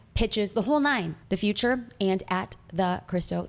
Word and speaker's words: Futur: The Future spelled without an E. It's Futur if you want to, Futur.